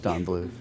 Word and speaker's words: Don Bluth: It is Don Bluth.